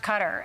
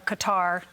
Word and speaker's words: Qatar: He left Qatar, or Qatar. You can pronounce it either way.